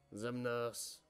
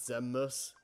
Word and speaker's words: Xemnas: gets like slightly annoyed whenever Johnny pronounced Xemnas as Xemnas? He just said, wait, he doesn't say the N? It doesn't sound like he says the N, no, it just sounds like Xemnas.